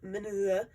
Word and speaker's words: Minuet: I'm hearing a lot of people pronounce it Minuet or Minuet. Minuet in G. Minuet is a French term.